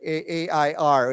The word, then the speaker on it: heir: don't pronounce this word we don't pronounce the word with a h we it's like air like kong xi right a i r it's pronounced the same